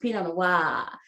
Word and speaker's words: pinot noir: who pronounces it the way it should be pronounced pinot noir that's the correct pronunciation but this one is